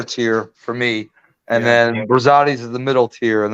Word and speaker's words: Rosati's: Pronounce that so I don't butcher it. Rosati's.